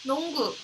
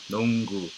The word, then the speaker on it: 농구: 농구. 농구. 농구. 농구.